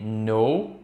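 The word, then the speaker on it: know: Então a gente tem no e nos no presente e no passado a gente vai ter no então presta atenção nessa pronuncia a letra k a gente não vai pronunciar não é final e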